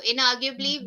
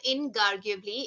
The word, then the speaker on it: inarguably: uh so please practice it's not inarguably it's in arguably in arguably in arguably in arguably